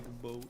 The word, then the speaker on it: Igbo: The G in Igbo is silent.